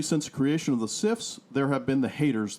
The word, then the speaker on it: CIF: Australia but the cifs it's pronounced cifs CIF were also a devisive